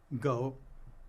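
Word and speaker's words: 狗: It used to be pronounced the same as dog, go.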